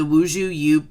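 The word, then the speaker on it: 吴茱萸: It's the Wuzhu Yu plant. That's the way it's pronounced in Mandarin.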